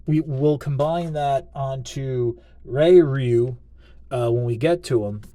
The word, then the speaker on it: Ryu: Now I'm going Ryu because that's from Street Fighter. That's how you pronounce it, Ryu.